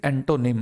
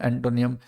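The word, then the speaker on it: antonym: सिनोनिम होता है, और दैट इज एंटोनिम। अक्सर मुझे बच्चे बोलते हुए मिलते हैं सिनोनियम, एंटोनियम। आप जरा खुद देखें स्पेलिंग को, NYM का प्रोनाउंसिएशन नियम कैसे हो जाएगा।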